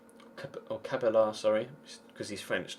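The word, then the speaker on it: Cabella: to be honest I mean I like gy cabaya or cabalar sorry because he's French not Spanish so he actually pronounced the else I like Remy cabalar I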